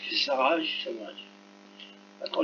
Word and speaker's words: visage: V-I-S-A, I et A, ce sont deux voyelles, donc ça fera le son Z. Ça fera visage, hein, visage.